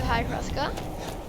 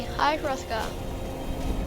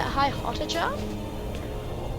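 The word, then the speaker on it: High Hrothgar: we need to be hi rothka I used to call it high Hott but it's not as high RKA although I think the H is silent and there it is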